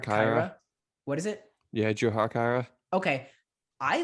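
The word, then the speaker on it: Jujhar Khaira: Yeah, Jujar Kyra.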